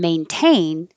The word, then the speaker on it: maintain: the noise but in maintain the n and the t are together but the t is in the stressed syllable so you have to say the t so all of the